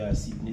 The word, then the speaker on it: Sidney: Maungu, c'est mon nom de famille et Sidney, c'est mon prénom, comme la ville de Sydney. Sauf que mon Sidney s'écrit avec S-I et non S-Y.